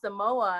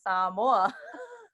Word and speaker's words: Samoa: and he said oh you're saying it wrong he said oh you mean Samoa and I'm like no I mean saw more but okay and then